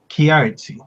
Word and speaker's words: Kiaratzi: Is it Kiaratzi? Kiaratzi. Yeah, Okay. it's good.